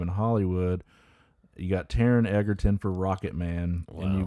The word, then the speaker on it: Egerton: And I always say it wrong, but Taron Egerton. There's no D.